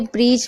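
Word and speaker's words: bridge: Okay, तो यहाँ पर आपको समझ में आ रहा है ना कि किस तरीके से ब्रिज में आप देख रहे हैं, बजट में आप देख रहे हैं, यहाँ पर साइलेंट है तो समझ में आ गया अच्छे से, कोई प्रॉब्लम नहीं हो रही।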